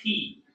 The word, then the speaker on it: Pie: And his name is actually P. It's spelled P-I-E.